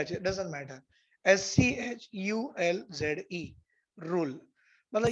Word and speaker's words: Schulze: स्कूज rule, SCH, spelling के ऊपर मत जाओ भाई, कभी कभी मेरी स्पेलिंग गलत भी हो जाती है और सही भी आ जाए, डजंट मैटर। SCHULZE, rule.